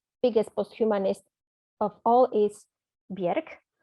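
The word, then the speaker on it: Björk: post-humanist of all is bjerk by the way bjerk is an icelandic pronunciation if i switch back to polish pronunciation by mistake please you know correct me but uh anyway bieric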